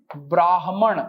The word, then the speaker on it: ब्राह्मण: यहां ध्यान दें, ब्राह्मण उच्चारण पे फिर ध्यान दें, ब्राह्मण।